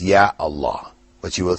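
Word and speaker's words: يا الله: But when you put that article or particle, Ya, before Allah, you still say, Ya Allah. You don't say, Ya Allah. Yeah? People might mispronounce and say that, but the correct way is Ya Allah.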